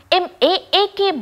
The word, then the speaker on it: Mach: இந்த வேக அளவீடு MACH என்று இருந்தாலும் அதன் உச்சரிப்பு MAAK மார்க் என்று இருக்க வேண்டும்.